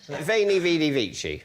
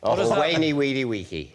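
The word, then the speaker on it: Veni, vidi, vici: Veiny vidy vichi. Wayyw weedy wiki. Yes, depending on how you pronounce it.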